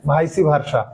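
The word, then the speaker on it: vice versa: আমাদেরকে ব্যবহার করতে হবে ভাইসি ভার্সা। এর উচ্চারণ ভাইসি ভার্সাও করা যায়, ভাইস ভার্সাও বলা যায়, দুটোই রাইট।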